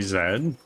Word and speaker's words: zed: Zed is how you say it in Canada. You guys in the States say Z.